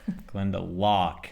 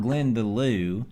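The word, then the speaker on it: Glendalough: drive a place called Glenda lock Glend de lock not Glend Deo unfortunately there was no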